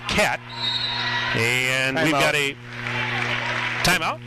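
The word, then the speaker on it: Kaat: It looks like Cot, K-A-A-T. They pronounce it Cat.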